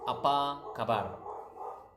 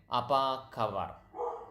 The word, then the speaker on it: apa kabar: So, but going back, so how do you say how are you? It's apa kabar. Okay, apa kabar. That's how you say how are you? Apa kabar.